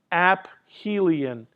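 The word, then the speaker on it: aphelion: That's a point called I don't have it on the diagram, but I'll spell it out for you. It's it's a point called app helion.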